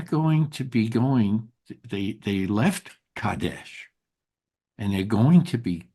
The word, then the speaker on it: Kadesh: Uh, there is a city that we're going to be reading, and that is the city of Kadesh. Am I pronouncing that correctly, Rabbi Mary? Yes, yeah. Kadesh.